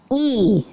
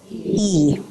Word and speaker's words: Lee: like the soft k sound Lee is actually pronounced e can you say it e right Mr E Park is pronounced Pac Pac